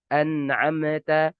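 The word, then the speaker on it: أنعمت: Contohnya apa? An'amta. An'amta. Amta. Ini tidak diperbolehkan karena dia tidak punya sifat qalqalah. Harus apa? Harus mengalir sedikit.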